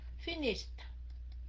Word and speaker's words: finished: anh chị nhớ nha thành ra ở đây cái động từ finish right cuối cùng bằng chữ SH thành ra mình sẽ đọc là finished Okay finished rồi Nhớ